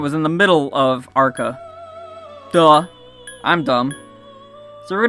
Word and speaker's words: Arqa: mispronouncing agua I mean I know it sounds like Aqua but it's not it's ARCA did I just call it arga now it's our cup with a Q A and B oh